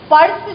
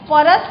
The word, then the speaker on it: पर्स: तो ये पर्स जो है परस नहीं होता है, पर्स होता है, आधा उच्चारण होता है, इसलिए हम इसे दंती सौ पे र रेफ की मात्रा में यूज करते हैं।